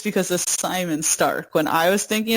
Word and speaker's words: Psymon: out, it was like Simon Stark. And by the way, his name is not spelled Simon. His name is spelled Psymon.